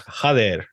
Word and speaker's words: Jader: wrong there is the first name, which is Jader.